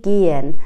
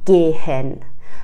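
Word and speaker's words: gehen: ها اگر وسط کلمه بیاد معمولا خفیف تلفظ میشه، مثل توی فعل گین به معنای رفتن میگن گین، نمیگن گهن.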